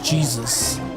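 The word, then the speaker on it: Jesús: Jesus. It's pronounced Jesus. Jesus. I mean, it does mean Jesus, but that's how you're supposed to say it in Spanish.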